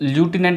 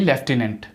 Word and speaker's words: lieutenant: फिर आता है लेफ्टिनेंट, इसको ल्यूटिनेंट ना बोल के आप बोलिए लेफ्टिनेंट, लेफ्टिनेंट। स्पेलिंग देखिए LIEUTENANT, ओके, लेफ्टिनेंट।